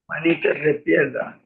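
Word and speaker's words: Manitas de Piedra: Manita de pierda.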